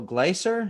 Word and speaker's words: Gleiser: and i'm very fortunate to have dr marcelo glicer and i'm pronouncing your name correctly sir right yes okay